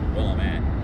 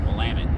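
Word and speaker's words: Willamette: wamt river right now a lot of people confuse the name and call it WT uh wamit is how it's pronounced and uh fun little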